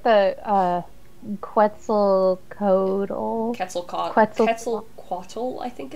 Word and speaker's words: Quetzalcoatl: because quetzal is yeah quetzalcoatl i believe is how it's pronounced okay i know i used to something yeah so because because q u is just a k there's no qua in oh you know like